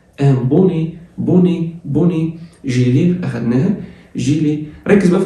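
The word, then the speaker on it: gilet: الاو تي بتتنطق ايه تبقى جي، الاي بتنزل ازاي؟ جيلي اللي هو السديري او البلوفر الكات، السديري او البلوفر الكات.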